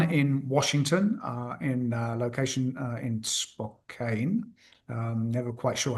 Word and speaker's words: Spokane: San Diego, one in Washington, in location in Spokane. Never quite sure how to pronounce that. Originally coming from England, Okay. and one in Pennsylvania. Yeah. Okay. So contract manufacturers in Spokane, which is correct, and Pennsylvania.